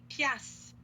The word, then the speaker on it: piastre: Mais attention à la prononciation. Je ne prononce pas le E, je ne prononce pas le R et je ne prononce pas le T. Donc, ça sonne piastre. Pias. Piastre. OK? En vert, vous avez la prononciation. Et surtout, là, je vais vous écrire la mauvaise prononciation. OK? C'est pas pièce, c'est pas est, c'est avec un A.